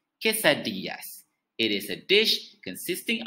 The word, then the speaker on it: quesadillas: next dish is also from mexico it is pronounced as chisadiyas quesadillas it is a dish consisting of a tortilla